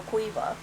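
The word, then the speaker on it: Caoimhe: You'd think that would be pronounced like ki or kai or something, right? Somehow it's ka. Yeah, it's ka or qua.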